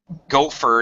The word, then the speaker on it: gopher: you go for coffee gopher is an animal by the way it's pronounced exactly the same the person is actually called a gopher because they go for